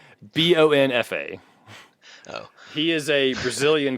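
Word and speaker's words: Luiz Bonfá: And Bonefart? Bonfa.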